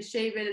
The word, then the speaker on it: Shabel: Quindi devo dirti che Shebel lo sento proprio mio. Perfetto, ti ringrazio e per aver detto qual è la pronuncia corretta, perché io sinceramente non, ammetto che